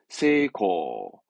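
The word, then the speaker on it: 精巧: 고묘 요게 정교한 겁니다 발음은 세이코 세이코 아시는 분은 아시겠지만 혹시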